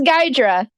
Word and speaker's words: Gydra: That's how you fucking pronounce his last name? You've said this exact thing before. It is Gydra.